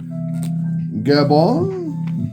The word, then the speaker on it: Gabon: or it's bone gab no e at the end but we're going to pronounce it like it's got an e because that's how we